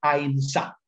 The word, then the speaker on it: ahimsa: se denomina ahimsa, o en el sánscrito antiguo se debe pronunciar ahimsa, que significa no dañar,